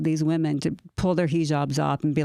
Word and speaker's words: hijab: No, he likes to call it the cuz I think is it hijab is what I call it a hajib. I switched the he mispronounces. Oh yeah. Yeah, I know. Hijab.